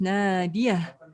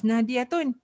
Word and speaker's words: Nadia: uh sis nadia shahira your name is na diya right but but the spelling of it is na di tun but you do not pronounce it as nadi aton you know all right